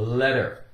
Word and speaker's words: letter: a letter letter in it's very common for a key in the center of a word or inside a word to be pronounced with more of a D sound D the letter D isn't dog that's the case here it isn't always that way but frequently okay so we have de